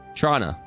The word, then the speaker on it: Toronto: Trana. Toronto. Trana. Toronto. Trana. Depending on how willing I am to touch on something that tastes like Vicks. Ah, that's fair. Some locals say Trana. And I say Toronto.